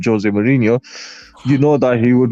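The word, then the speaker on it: José Mourinho: Like with Jose, or with Jose, I should say, that's how you properly pronounce his name, Jose Mourinho.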